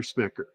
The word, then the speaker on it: Smecker: Inspector Smecker. Don't get it. Inspector Smecker. I mean, it rhymes.